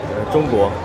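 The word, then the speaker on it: 中国: Zhongguo. Zhongguo?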